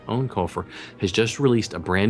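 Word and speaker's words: Eoin Colfer: books yeah the um author name pronounced actually own kulur but it looks like Ian hard to say own culur has just released a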